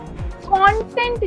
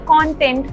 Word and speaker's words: content: It is the pronunciation that shows us the difference. Content जो word है जिसमें हम ओ साउंड यूज कर रहे हैं, C-O-N-T-E-N-T, content, इसका मतलब है डेटा, इंफॉर्मेशन.